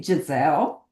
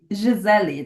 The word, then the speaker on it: Giselle: say You can say Giselle. You can say Giselli. That's how I pronounce in Portuguese. Giselli.